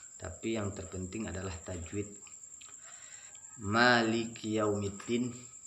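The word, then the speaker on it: مالك: Maliki jangan maliki. Agak dijelaskan kafnya, maliki, dan jangan sampai membacakannya sampai 3 ketukan.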